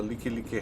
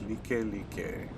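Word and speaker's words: Likelike: to Connie O'Hare you'd want to take the licky licky highway here on the right next offer up on the right yes it looks like like like but it's actually pronounced Li ke ke on the right side there you can see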